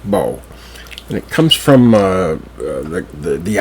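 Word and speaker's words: Boho: It's spelled B-O-H-O, but it's pronounced Bow.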